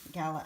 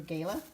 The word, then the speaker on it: Gala: We also have some gala apples, or gala, however you want to pronounce it. Heard it both ways.